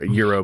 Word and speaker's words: gyro: I bet that's cuz there's a mini Greek wrap called the euro but it's spelled gyro anyway so Wednesday's Wednesday's